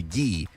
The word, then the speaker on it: Gee: and conditioning coach andre gee are out i hope i am pronouncing that he's actually g i looked it up g okay his name is literally pronounced like a letter andre g yeah i